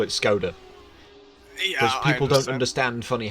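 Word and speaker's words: Škoda: uh skoda is from czech republic yeah it's pronounced skoda sorry sorry i should know that i should know that skoda yeah yeah yeah that's it perfect sorry in britain we'll just call it skoda because people don't understand funny hats and things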